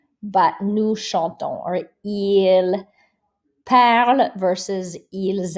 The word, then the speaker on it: nous chantons: So we never pronounce this S at the end unless the next word begins with a vowel. So nous allons, but nous chantons, or ils parlent versus ils arrivent.